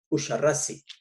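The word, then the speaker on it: Uxarrás: abra llamados yurui y usaras esta x se pronunciaba como She usari que luego el sonido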